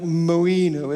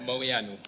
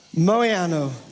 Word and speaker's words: Moianu: There's an N-U at the end. Nu. It's like, I will pronounce it wrong, but it's something like Moinu, isn't it? Or Moanu or something like that? Moianu. Moianu. Thank you so much.